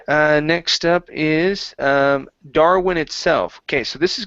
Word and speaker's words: Darwin: okay very good uh next up is um Darwin itself okay so this is going to be an oo sound right here in the middle okay instead of saying darn with a V sound it's Darin Darwin Darwin there you go that's much better okay uh